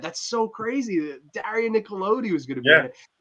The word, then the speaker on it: Nicolodi: but it just Daria Nicoletta, how do you say her last name? Daria Nicolodi? Really? Yeah.